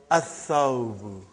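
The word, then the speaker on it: الثوب: So, brother, whenever there is a sun letter, you will not pronounce lam.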